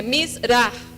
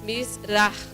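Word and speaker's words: מזרח: Bom, aqui no hino só tem uma das palavras que é Mizrah. Ali onde tem o CH no final é um som como aspirado. Mizrah, como se fosse um R. Mizrah.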